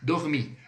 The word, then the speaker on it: dormir: O dormir do francês é o mesmo nó, só que o som é diferente. O R é bem rasgado. Então fica assim, ó, dormir, dormir, tá? Com o R bem rasgado.